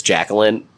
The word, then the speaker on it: Jakelin: And it's spelled Jakelin, which really bothers me. That's Jacqueline. Wait. Like, yeah, Jakelin. I was going to say, that's Jake. Yeah, it's Jacqueline.